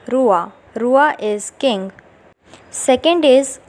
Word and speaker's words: roi: OI is pronounced as OUA in French. For example, Roi.